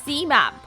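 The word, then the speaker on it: -ximab: is definitely defined or it pronounced as zmab x i m a map got it now let's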